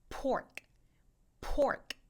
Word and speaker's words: pork: 먼저 돼지고기부터 발음해 볼게요 돼지고기는 입술이 완전 다물어졌다가 터지는 느낌으로 pork pork 해주셔야 되고요 포크는 바람이